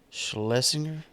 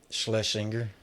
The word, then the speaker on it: Schlesinger: Schlesinger. Schlesinger.